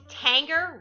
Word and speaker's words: Tanger: i just went to tanger rhymes with hanger outlets and washington pa